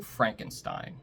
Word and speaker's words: Frankenstein: today our movie in the middle is Young Frankenstein don't miss Young Frankenstein personally directed by Mel